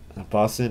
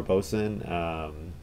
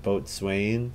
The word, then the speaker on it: boatswain: Boson or Boson, not Boatswain.